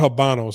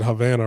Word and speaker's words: Habanos: can find a uh it's called habanos I was saying it wrong yesterday I said uh what did I say yesterday um I called it something else I think I said Havana right my bad okay so